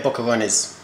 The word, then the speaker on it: boquerones: You'd say, would you say bocarones? Yeah, bocarones.